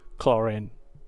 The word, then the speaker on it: Clorinde: extraneous details those are no concern of mine clorine that's how you pronounce the name so yeah uh my first